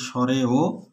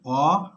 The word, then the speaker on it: অ: যেমন এই বর্ণের উচ্চারণ অনেকেই স্বরে ও স্বরেয়া উচ্চারণ করে, কিন্তু এই দুটি বর্ণের উচ্চারণ শুদ্ধ উচ্চারণ অ আ, কারণ ঈশ্বরচন্দ্র বিদ্যাসাগর 1855